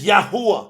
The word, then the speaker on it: Yahuwah: It's Yahuwah. That's how it's pronounced.